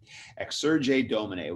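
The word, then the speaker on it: Exsurge Domine: document called exergy dominate x surge a dominate which e-x-s-u-g-r-e if you want to spell it d-o-m-i-n-e x-sur-j dominate which means rise up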